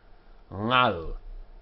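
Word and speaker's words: עַל: But we don't go in for that in Spanish and Portuguese, and so we pronounce it as the sound, similar to the end of the word sing. Ngal, ngal pene, on the faces of.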